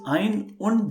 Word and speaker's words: ein: for um you know if somebody only say one he will be saying only ions and if it comes as a combination let's say 31 then we call it as ein raizish okay yeah yeah i know this yes so if it is alone it will be eins if it comes in with in connection with some other characters then it will be ironed well by the way